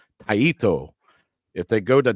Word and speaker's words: Taito: go the sorry Jason I'm gonna try to say it like you told me to say it taito if they go to taito Route oh Lord with